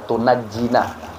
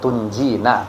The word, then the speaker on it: tunjina: sayidina Muhammadin shatan tunjina memang ada yang baca tunajina Tapi umumnya kita baca tunjina biha Min Jamil ahwali